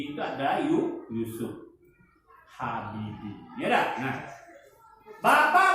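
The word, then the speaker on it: Jusuf: B.J. itu ejaan lama, ya. J itu menjadi Y, ya. Jadi namanya adalah B itu Baharudin, J itu adalah Yusuf Habibie.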